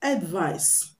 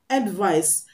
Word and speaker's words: advice: in their pronunciations the one with c is pronounced advice advice the c is pronounced and the one with